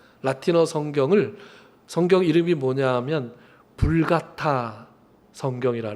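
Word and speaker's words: Vulgata: 그 당시 그들이 그렇게 성스럽다고 구별했던 그 성경 라틴어 성경을 성경 이름이 뭐냐하면 불가타 성경이라 라틴어로 불가타라 그래요. 영어로는 벌게이트라고 읽는데 벌게이트가 불같타라는 말이에요.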